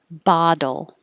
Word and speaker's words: bottle: open a lot bottom bottle same ba at the beginning but the dole is a very quick tap so my d my tongue is touching for the d i have to release it and put it back for the l it's very quick i